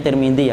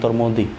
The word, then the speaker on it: Tirmidzi: Ada Abu Dawud, kemudian ada Abu Bukhari, ada Muslim, ada kan Ibnu Majah, ada Tirmidzi, bacanya Tirmidzi ya Pak, jangan Turmudi.